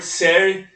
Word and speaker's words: Robert Sayre: Robert Serre, que é Serre, né, que se escreve, né, Robert Serre, que é um professor norte-americano. Ambos escreveram o livro Revolta e Melancolia, o romantismo na contracorrente da modernidade.